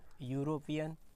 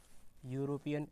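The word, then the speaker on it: European: यूरोपियन, यूरोपियन, या जो है वो व्यंजन है, या, इसका उच्चारण या से हो रहा है, तो ए आएगा।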